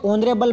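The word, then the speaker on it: honourable: ही इज नॉट ऑनरेबल मैन, तो यहाँ पर एन आएगा क्योंकि एच आपके बिल्कुल साइलेंट है साथियों।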